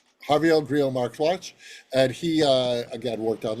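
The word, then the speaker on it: Javier Grillo-Marxuach: Next to him is Javier Grillo Marchix. Did I pronounce that correctly? No, but it's okay. You pronounced it correctly. Go ahead. Javier Grillo Marxwatch. Javier Grillo Marxwatch, and he again worked on Lost, worked on Witcher.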